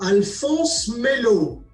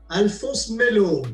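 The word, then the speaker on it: Alphonse Mellot: First, how do you pronounce the name of the brand? So Alphonse Melot. Alphonse Melot. It's very simple. Alphonse Melot.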